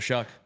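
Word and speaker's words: Shough: You know how to pronounce his name. It is Tyler Shuck.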